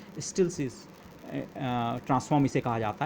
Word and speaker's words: Stieltjes: Okay, it's pronunciation is something like स्टिल्सिस, या आप steel चीज़, okay, अगर आप इसे थोड़ा फास्टली बोलें स्टिल्सिस ट्रांसफॉर्म इसे कहा जाता है।